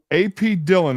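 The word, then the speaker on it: Dhillon: But it's pronounced Brickley. Okay. Yeah. All right. I was thinking, yeah. AP Dillon is the next one.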